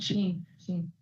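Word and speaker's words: SHEIN: Sheen.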